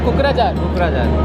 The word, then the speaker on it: कोकराझार: इसका प्रोनाउंसिएशन है कोकराझार।